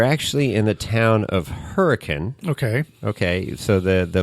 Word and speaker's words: Hurricane: so you're you're actually in the town of hurricane okay okay so the the lay folk would call it hurricane but in Utah they pronounce it hurri con Hurrican hurri hurri Utah we're going to go